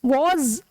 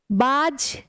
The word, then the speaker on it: was: Same वैसे ही वॉज, अब देखो बेटा ये होता है वॉज, इसको नुक्ता वाला जा बोलते हैं, नुक्ता वाला जा, इसका प्रोनाउंसिएशन वॉज। बाज नहीं होता, ही बाज अ बॉय, नो, ही वॉज बॉय, ठीक है।